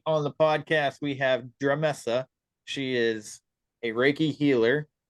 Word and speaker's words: Dremessa: I'd love to so um my name is dramessa that's spelled d-r-e-m as in Mary e s s